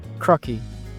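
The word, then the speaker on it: 크로키: Crocki. Yes, it's actually pronounced like that.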